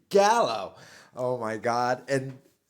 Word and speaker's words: Gallo: It's not Galileo, you It's Gallo.